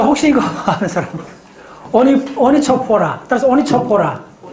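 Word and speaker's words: Onychophora: 자, 그 다음에 이제 하는 게 뭐냐 하면, 가지가, 스펠링이 조금 어려운데, 어떻게 되느냐 하면, O-N-Y. C-H-O-P-H-O-R-A. 자, 혹시 이거 아는 사람? 오니초포라.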